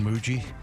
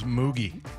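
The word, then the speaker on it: Mougey: But did you know that the the GM for the Jets was named Darren Muji? Muji. That's not how I would have pronounced that. I I thought it was muggi.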